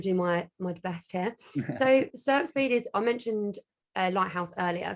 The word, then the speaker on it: SERP Speed: SERP Speed.